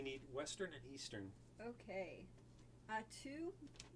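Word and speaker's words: Attu: Atu, is that right? Atu in the Aleutians? Yes. That's actually it?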